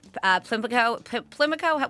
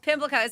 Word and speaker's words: Pimlico: being the luckiest time of day, Plimlico, what is it called? Race? Is that how you say it? Oh, geez, now I can't say it. Pimlico. Pimlico.